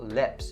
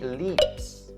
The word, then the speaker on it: lips: So lips, the pronunciation point on this word is about the vowel sound in it. So lips, don't say leaps because leaps is a totally different word.